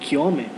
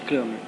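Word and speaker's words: Cramer: Existe uma outra regra, que é a regra de Kiome. Ele era sueco, então a pronúncia seria mais próximo disso, não seria simplesmente Kramer.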